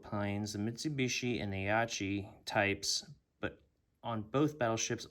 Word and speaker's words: Aichi: This is the Mitsubishi F1M2 and the, I think I'm pronouncing this right, the Aichi.